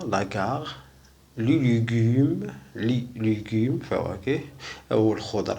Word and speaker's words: la gare: إذا سيغار كا متبوعة بأ نقراوها كار. لو سيغار يعني يعني السيجارة. لاغار المحطة، لاغار.